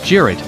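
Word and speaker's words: Cirit: The weapon's name comes from a traditional Turkish horseback game, Sirit, pronounced Jirit, where two teams of riders fight a mock battle using wooden javelins which are called Sirit.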